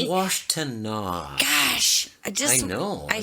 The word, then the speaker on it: Washtenaw: It's Washtenaw. Gosh, I know. I say things phonetically.